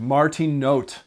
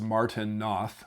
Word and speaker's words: Martin Noth: the 20th century named Martin note Martin note um looks like it's pronounced Martin Noth but it's not because he's German so it's Martin note